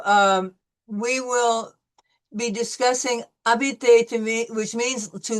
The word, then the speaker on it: habiter: So, habiter. N'oubliez pas que la lettre "h" est muette. Remember, do not forget that the H is silent. So, it'll be habiter.